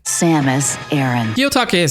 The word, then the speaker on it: Aran: name is pronounced Aran the pronunciation of samus's surname is confirmed to be Aaron Sam is Aaron kotake said quote in